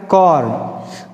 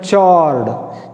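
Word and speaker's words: chord: Next definition आता है कॉर्ड। कुछ बच्चे इसको गलत पढ़ते हैं, चॉर्ड। चॉर्ड अगर पढ़ रहे हो आप बच्चों तो that is the wrong pronunciation of द वर्ड कॉर्ड। कॉर्ड का मतलब क्या होता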